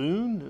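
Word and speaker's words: Hzun: Is it Zune? Is that how you pronounce it? H-Z-U-N? I'm actually yes. This is because I remember looking down at my notes and I was like, I wonder how I pronounce this. Yeah, drop the H just goes Z-U-N.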